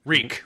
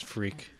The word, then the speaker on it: Reek: Reek. Reek? Yeah. Yeah. I thought it was Freak. No, it rhymes with meek.